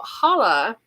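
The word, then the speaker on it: challah: look it up and it's pronounced without the C in the front I believe somebody who is Jewish might correct me but I believe it's Hala and it uses saffron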